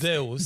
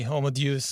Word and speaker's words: Homo Deus: new book just out, Homo Deus. Did I pronounce that properly? I use the Latin pronunciation, which is Homo Deus. Deus, okay. But you can say Homo Deus.